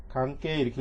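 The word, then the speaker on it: 関係: 여기 좀 끝에 이로 되어 있지만 앞에가 에단이니까 이 에단을 길게 관계 이렇게 읽어주시면 돼요. 물론 관계이 이렇게 읽으셔도 뭐 안 될 것은 아니지만 기왕이면 관계 이렇게 읽어주시고요.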